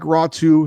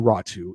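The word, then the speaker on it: Raty: It doesn't look like Ratu. His last name is spelled R A T Y, but he's from Finland. They have unique names there. Uh but Atu Ratu is great name to say.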